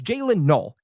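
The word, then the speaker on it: Jaylin Noel: Okay, I want I I want to make this clear because I see a lot of people in the media pronouncing this poor guy's name wrong. Okay, it's Jaylen Null.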